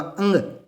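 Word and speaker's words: ङ: ख ग घ ये, इसको अड़े नहीं बोलते दोस्तों, क्या नहीं बोलते, अड़े। बचपन से हमारी जो आदत पड़ी हुई ना, कै ख घ ड, अड़े नहीं है, ये क्या होगा, इसका उच्चारण होगा अंग।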